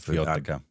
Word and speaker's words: Jyotika: Jyotika. Correct pronunciation.